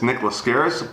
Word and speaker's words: Nick Laskaris: know what my name was so i'm gonna pronounce it and tell you what it is nick lascaris proud owner of mount olympus water and theme